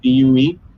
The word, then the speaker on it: Vue: So yeah, it was done in a 3D software called Vue, V-U-E. It's French, so apparently it's pronounced Vue, not Vue.